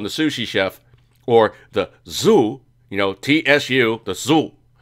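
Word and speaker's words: tsu: But essentially what it is, you're telling the sushi chef, or the zu, you know, T-S-U, the zu, T-S-U, zu. You always pronounce the T-S together like shoe, so zu.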